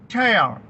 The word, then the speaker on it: tear: TEAR, ടയർ. ഇങ്ങനെ ഉച്ചരിക്കുമ്പോൾ അതിന്റെ അർത്ഥം കീറുക, ടയർ, കീറുക. അപ്പോൾ TEAR എന്ന വാക്ക് ടിയർ എന്ന് ഉച്ചരിക്കുമ്പോൾ കണ്ണുനീരെന്നും അതൊരു നൗണാണ്.